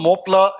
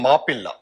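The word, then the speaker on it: Mappila: were the more plus the term mopla is actually an english corruption a mispronunciation or rather english pronunciation of a malayalam term called mapilla which literally means son-in-law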